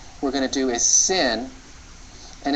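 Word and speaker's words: שׂ: on the right okay the sin is pronounced as a simple s the the shin is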